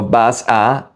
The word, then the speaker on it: vas a: Vas a, no vas a, you say vas a.